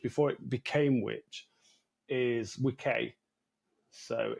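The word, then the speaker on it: wicce: a bit later so the old English was wik which is spelled uh W CCE and then the old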